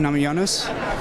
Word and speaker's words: Namajunas: I'm here with Rose Namajunas. Did I pronounce that right?